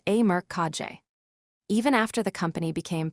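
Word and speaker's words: E. Merck KG: Rather than endlessly dividing the company among descendants, they centralized control through a family holding structure known as e merg pronounced a merkage.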